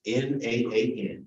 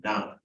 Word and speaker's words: naan: Naan. Naan.